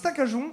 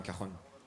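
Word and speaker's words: cajón: En Espagne, le J se prononce re, donc on dit un cajon.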